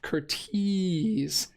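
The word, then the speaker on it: Curtiz: you thank you Ethan he was Hungarian it's pronounced Curtis thank you uh always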